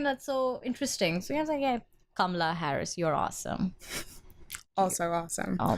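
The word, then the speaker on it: Kamala: say her name that's so interesting so yeah Kamla Harris awesome also awesome oh my god come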